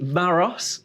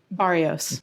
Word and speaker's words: Barrios: From Alcohol Change UK, I have got Bree Barros. How are you? Doing well. Did I Delighted pronounce that to be right? here. Barrios. Barrios. Yeah. I missed out on an I.